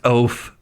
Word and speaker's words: oaf: Look, we found the oof who's never read a book. It's pronounced oaf.